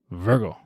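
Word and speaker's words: Wörgl: Virgil. Spelled with the W, obviously.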